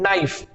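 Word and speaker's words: know: तो कनाइफ नहीं होता, ये केवल क्या होता है, नाइफ, ठीक है।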